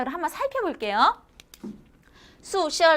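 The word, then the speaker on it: 宿舍: 宿舍, 기숙사는 宿舍 라고 발음을 합니다.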